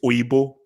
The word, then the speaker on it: Oyibo: Oyibo. No, but just that obviously he doesn't pronounce it. Actually, no, he did Wahala pretty well, but I think he obviously didn't pronounce it Oyibo. It's Oyibo.